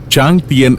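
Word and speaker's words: Tràng Tiền: French ശൈലി ഇപ്പോഴും പ്രകടമാണ് ടി ആർ എൻ ജി ടി ഐ ഇ എൻ എന്നാണ് എഴുതുന്നതെങ്കിലും ചാതിയൻ എന്നാണ് ഇവിടുത്തെ ഉച്ചാരണം അങ്ങ് ദൂരെ ഹാനോയ് ഓപ്ര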